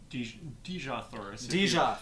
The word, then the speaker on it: Dejah Thoris: little bit about the dejah thoris story and what that's all about yeah this is basically the story of how Jesus Teesha that's how Edgar Rice Burroughs pronounced and good to know